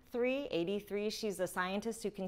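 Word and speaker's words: Aidee: 83, which is spelled like A-I-D-E-E, 83.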